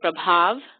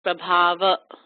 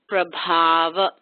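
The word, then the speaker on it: प्रभाव: at the end as prabhava, but not prabhava, okay? Now, the BH here, pay attention, it's aspirated, so the B becomes bh. It's not b, but bh, with that puff of air. So prabhava, okay?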